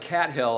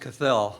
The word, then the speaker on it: Cathell: Cathell, is that? Looks like Cat Hill, I know, but it's pronounced Cathell.